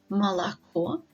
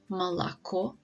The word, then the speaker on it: молоко: So in the words хорошо и молоко, so both of these words have 3 syllables, and the stress is on the last syllable, on the last O, so that all the previous O's are pronounced as wide A's.